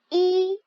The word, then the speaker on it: 一: 1 en chinois, ça prononce I, comme la lettre I en français.